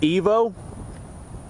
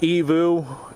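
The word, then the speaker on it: Aivo: They said it's pronounced Evo, A-I-V-O, or A-I-V-U. But yeah, they said it's pronounced Evu, and they said it is a Sicilian name.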